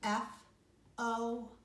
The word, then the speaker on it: forte: So after dynamics, you're going to write the word forte, small case F, F-O-R-T-E, forte. I'll spell it one more time, F-O-R-T-E, forte.